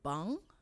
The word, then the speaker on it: bang: and to also understand so ng is so bang and nk is bank so bang is to